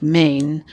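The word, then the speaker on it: Mijn: I J N um she pronounces it like Maine u means my and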